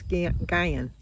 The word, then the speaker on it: Nguyen: I think it's Guyen. I think the N is silent.